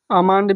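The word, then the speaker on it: almond: यम से पहले पाम मीस होता है हथेली अमान मीस होता है बादाम और बाम मीस होता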